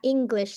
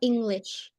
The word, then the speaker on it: English: English seperti G-nya double ya, English. So it's not English.